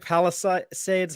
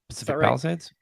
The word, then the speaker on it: Palisades: West Covina Pacific Pacific Palace seeds how do you say that Palisades yeah Redding Eureka Mount Shasta